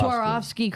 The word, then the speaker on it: Swarovski: Sarovski. Swarovski crystals.